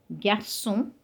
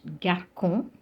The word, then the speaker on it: garçon: So we have français instead of franquet, garçon and not garcon, reçu and not reçu.